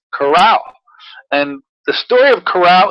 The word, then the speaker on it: Carao: with a miraculous fruit I learned how to pronounce it he taught me it's coral and the story of coral is a fascinating